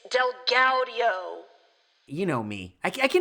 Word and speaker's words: DelGaudio: his name is derek del guardio guardio as it's spelled it looks like del guardio okay derek delguardio thank you it's delgaudio you know me i